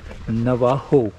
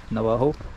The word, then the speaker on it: Navajo: Navajo. It's J. In Spanish, J is pronounced as H. Navajo.